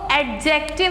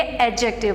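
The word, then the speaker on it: adjective: ठीक है, इसको एडजेक्टिव नहीं पढ़ेंगे, डी साइलेंट करेंगे, एडजेक्टिव पढ़ेंगे।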